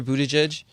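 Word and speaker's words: Buttigieg: public servant and the public i think peter budej i forget if you say his name correctly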